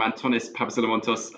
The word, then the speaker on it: Antonis Papasolomontos: thanks very much so yes no you you pronounced my name perfectly well so that was very good uh i'm antonis pavasilamontos um director of external affairs at abbvie uh